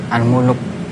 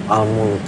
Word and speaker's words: Al-Mulk: Jadi senang aja bacanya ya. Oke. Kalau Sutardi apa surat yang paling disukain yang sering dibaca? Al-Muluk. Al-Mulk.